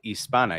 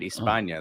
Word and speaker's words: Hispana: La Comunidad Hispana. You don't pronounce the H. And don't make it Hispania. There's no tilde on the N.